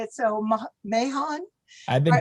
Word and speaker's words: Mahon: Depends on where you're from. Mahon. It's Irish. I guess if you're Irish, you would say Mahon, but everybody says Mahon.